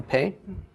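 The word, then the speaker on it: פה: So a pei with the dagesh, a segel vowel underneath it, followed by a he, is pronounced pe, and it means a mouth.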